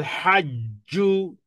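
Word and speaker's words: حج: করতে পারি, যেমন আল হাজ্জু, হজ, হজ নো, হজ নয়, হজ, হজ। হ্যাঁ, বলে যে হজ করে এসেছি, কি হলো? বাংলা বলেছেন, আরবি বলেননি, অথচ হজ একটা আরবি শব্দ, তাহলে বলতে হবে হজ।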